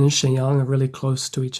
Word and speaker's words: 沈阳: What's the 声调 for Shenyang?